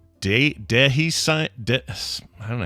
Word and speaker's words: dehiscence: It's pronounced dehiscence, by the way. Dehiscence. Okay. Dehiscence. Yeah. Dehiscence. It's a schwa for the E.